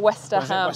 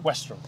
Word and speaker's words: Westerham: thank you to this Co West go on pronounce it your way west west what West he said Wester ham it's not Wester ham I say Wester westr but that might just be my accent westr Golf Course phenomenal he was a great condition